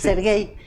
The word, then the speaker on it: Serguei: Sergey, así se pronuncia.